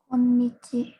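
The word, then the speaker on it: 今日: Ini bacanya apa nih? Bacanya kyo atau apa nih? Bukan kyo ya ini ya. Bacanya adalah konnichi.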